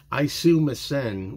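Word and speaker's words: Aisumasen: the best I can I kind of pronounce it like John does and even it's even been said that he's not pronouncing it right but isum missen which means I'm I'm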